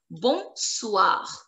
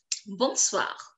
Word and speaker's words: bonsoir: Bonsoir. And you have to pronounce the last letter R because bonsoir is ending with CLFR, which needs to be pronounced. Bonsoir.